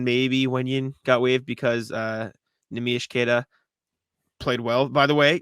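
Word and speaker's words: Neemias Queta: Bobby Manning and I were at his event in Quincy, and Bobby asked him, how do you pronounce your name? Nemish Keita. That is the name.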